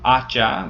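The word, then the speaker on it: hacha: Then we have um acha which means axe and there's an h there but that H is silent remember so we it still needs the L so it's ela aas una and unas.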